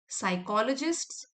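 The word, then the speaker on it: psychologists: Each time you overcome a challenge you build what साइकोलॉजिस्ट्स। P silent है।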